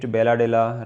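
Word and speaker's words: Bailadila: Some of the people they are calling it Belladilla, right? Belladilla, right? There are lot many differences in the pronunciation.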